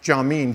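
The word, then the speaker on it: Jamin: a guy named John I guess that's pronounced John mean J am I an Goggin and Kyle Strobel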